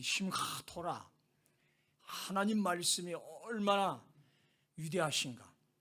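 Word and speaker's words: שִׂמְחָה: 그래서 확실하게 오늘 제목이 심카 토라, 심하 히브리 단어 우리 발음으로는 잘 안 돼요. 심하 이런 심하 히브리 발음.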